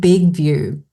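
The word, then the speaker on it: BigVU: off today is called Big View. And it's spelt big, as in the word big, and view is just VU.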